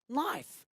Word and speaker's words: knife: For the second one, knife. And you have noticed that the K here is silent.